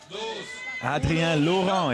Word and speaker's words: Adrien Loron: Adrien Loron, if you want to say it right, and he's the man